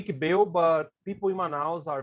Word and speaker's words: ICBEU: I'm from Manaus, Amazonas, and I work for ICBEU. This C is mute, right? We don't pronounce it here. We could say ICBEU, but people in Manaus are very, let's say, familiar with the name ICBEU, right?